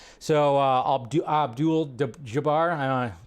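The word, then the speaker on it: Abdul-Jabbar: that he made last night and defeated Kareem aldu Jabar so ABD Abdul Jabar I said his name wrong right there but yeah so I thought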